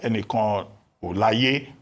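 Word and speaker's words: Enikanolaiye: Now, as for foreign direct investment, Shola Enikan Olaye, that's the correct pronunciation.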